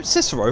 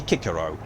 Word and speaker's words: Cicero: So Cicero from Skyrim is actually incorrectly pronounced. It should be Kikero.